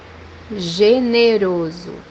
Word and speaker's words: generoso: The second pronunciation is like G or J in English. The example that we have here is the word generous, which means in Portuguese generoso, generoso.